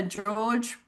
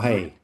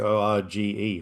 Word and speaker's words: Jorge: the actor George Porcel, I'm Hmm. guessing, Jorge. Argentinian actor. What? Jorge. That's actually how you pronounce It's Jorge.